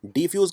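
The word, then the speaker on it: defuse: डिफ्यूज़ करते हैं कि डिफ्यूज़ करते हैं? अब आप में से कई लोग कहेंगे बम को डिफ्यूज़ करते हैं, यानी ये सेकंड होगा।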